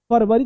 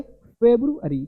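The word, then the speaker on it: February: फेब्रुवरी, तो फेब्रुवरी नहीं फरवरी, देखो कुछ बोलते हैं फरवरी, भाई फर लिखा नहीं, फेब लिखा, FEB, तो बहुत सारे बच्चों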